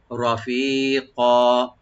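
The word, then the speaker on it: رَفِيقًا: রফিক, রফিক, রটাকে একটু ডিপ করে পড়বেন, আর ফি এক আলিফ টানবেন, রফি, ফাটাকে এক আলিফ টান দিবেন।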